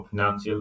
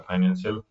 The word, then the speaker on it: financial: 18 number question जो है इसमें भी स्पेलिंग मिस्टेक वाला, फाइनेंशियल होता है FINANCIAL, इसको फिनेंशियल पढ़ा जाता है, फाइनेंशियल तो पढ़ लेते हैं लेकिन एक्चुअल में पढ़ा जाता है इसको फिनेंशियल।